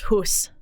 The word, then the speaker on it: house: Well, the same with the word house. HOUS doesn't make any sense. It used to be pronounced hus.